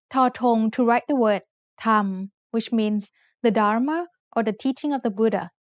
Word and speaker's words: ธรรม: way to write สระอะ But if there are 2 รอเรือ attached to an initial consonant with no final consonant in the syllable, then we pronounced it อัน We have a special